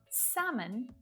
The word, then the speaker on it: salmon: Chalk, talk, walk, calm, palm, salmon, yolk.